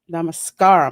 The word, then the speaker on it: namaskar: my girl she says nem wreck mascara oh hello this is awesome i know i screwed up the pronunciation of that i'm going to get better at that though namaskar okay be funny if